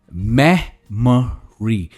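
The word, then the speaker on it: memory: इसे कैसे प्रोनाउंस करेंगे? मेमोरी, मेमोरी। Again stress is ऑन the first part, मेमोरी।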